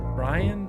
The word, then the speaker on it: Bryan: It's pronounced Bryan.